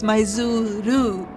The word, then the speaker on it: Maizuru: And funny enough, we walked past Maizuru Park, and yes, it's Maizuru.